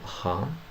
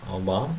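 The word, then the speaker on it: は: that I know pronunciation of particle ha, or like ha, but it will be pronounced as wa. So the particle wa is pronounced wa, not ha.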